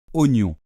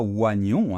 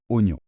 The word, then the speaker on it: oignon: aucun sens ici puisque la prononciation correcte est oon parfaitement donc on ne dit pas oagon hein si on le lit normalement on devrait prononcer un O et un I ou a et non on dit oignon c'est pour ça que